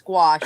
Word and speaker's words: gouache: I was saying, what was I saying? Gouache, and they're like, no, it's gouache, honey. I'm like, gouache.